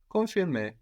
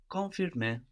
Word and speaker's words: confirmer: So just think it, but don't pronounce it. If you feel like your mouth has already moved into that letter, it's too late already. No, you want to think it, but not arrive. Confirmer. Confirmer. So we've seen how we